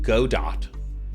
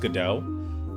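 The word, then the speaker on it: Godot: And if anyone tries to tell me that it's pronounced GDAU, I want to let you know that if you just look at those letters together, it's go Dot. It seems self-evident.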